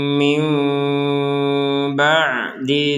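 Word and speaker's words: مِنْ بَعْدِ: Tummaauna min ba'di dzalik. Di sini ada seorang nun sukun bertemu dengan seorang ba. Jadi, kita membacanya seperti huruf mim. Mim. Seperti itu.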